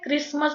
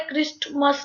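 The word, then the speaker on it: Christmas: इसी तरह से यहाँ पर टी साइलेंट है, क्रिसमस बोला जाता है, क्रिस्टमस नहीं बोलते इसको, क्रिसमस बोलते हैं।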